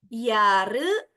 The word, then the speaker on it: Jahre: Ya, jadi huruf J dalam bahasa Jerman tidak diucapkan J, tapi seperti menyebutkan huruf Y. Ya, jadi Jahre alt.